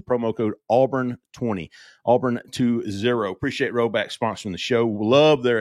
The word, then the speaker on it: Rhoback: Appreciate Roback sponsoring the show.